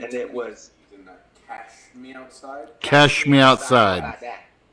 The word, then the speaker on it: Cash Me Outside: Who, for those of you that don't know, the Catch Me Outside gal was a 13-year-old individual who went on Dr.